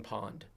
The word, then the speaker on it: Pwned: There's a There's a website called Have I Been Pwned. Oh, really? Yes. Been Pwned. I'm going to write that down. Okay. I Been Pwned, and Pwned is spelled p w n e d.